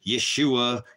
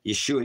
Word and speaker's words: Yeshua: he's got the his name his name is Yeshua Yeshua you know if you're going to spell his Hebrew name spell it without any vows why H VH YH